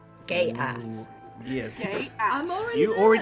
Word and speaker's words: Geas: It's spelled Geas. Gay ass.